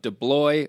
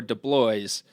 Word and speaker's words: DeBlois: So I just want to clear this up because last month when Nick Tift was in, he said the pronunciation of DeBlois or DeBlois, both are correct.